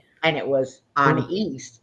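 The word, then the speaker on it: Anaïs: And we were thinking it was Annias. Okay. And it was an east because it's French.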